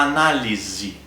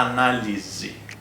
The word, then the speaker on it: análise: nós pode dizer análise o s tem som de z e a letra e é a última letra aqui dessa palavra análise Então ela tem som de i a análise A análise Ok a segunda palavra